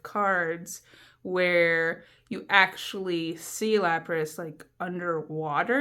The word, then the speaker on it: Lapras: And that is exactly how you say it, and you can't tell me otherwise. Lapras, not Lapras.